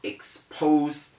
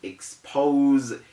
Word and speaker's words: expose: of expose i will expose you is wrong you say i will expose you that z sound must be heard it's not exposed now